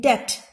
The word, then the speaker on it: debt: In debt, B is silent.